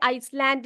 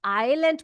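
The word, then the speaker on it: island: नहीं बोलना ठीक है आइसलैंड नहीं बोलना इसको क्या पढ़ते हैं हम लोग इसको आइलैंड पढ़ते हैं ये एस जो यहां पर है यह साइलें होता है इसको हम लोग उसका उच्चारण नहीं करते हैं तो उसको हम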